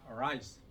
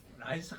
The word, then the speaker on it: rice: R 발음 굴려야 돼. 남들이 볼 때 조금 그만하다 할 정도로 이렇게 혀를 굴려야 돼. Rice. 라이스 하면 안 돼요.